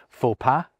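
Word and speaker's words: faux: Borrowed terms like faua and shoe pastry give our language its silent X's.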